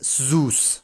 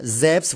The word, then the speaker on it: Zeus: I refuse to pronounce it as Zeus, right? Or even Zeus. Even Zeus would be more acceptable for me. Zeus, which seems to be the... Yeah, Zeus, which seems to be the Greek pronunciation, alright?